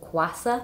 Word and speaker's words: Kwassa: What's one that I've been loving at the moment and I think he's doing a great job is, I think you pronounce it Kwassa. Oh yeah. K-W-A-S-S-A. He, I fully went through his whole funnel, like the whole thing until I finally streamed.